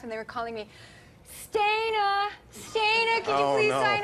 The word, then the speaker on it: Stana: You pronounced it awesome, and Stana, thank you so much.